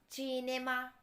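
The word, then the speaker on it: cinema: the next one इज चिनेमा चिनेमा यानी सिनेमा इसे English की तरह ही लिखा जाता है लेकिन सी को इटालियन में ची कहते हैं इसलिए इसकी प्रोनंसिएशन होगी चिनेमा और इसका मतलब एक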